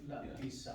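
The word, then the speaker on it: لبس: So labisa, who can give me similar verb from your list? شرب. Exactly. Shariba, labisa, right? The same rhythm.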